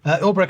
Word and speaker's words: Ulbricht: This follows the executive order releasing the Silk Road founder, Ross Ulbricht, is that how you pronounce his name? Yep. Ulbricht was convicted in 2015 of involvement in narcotics and money laundering.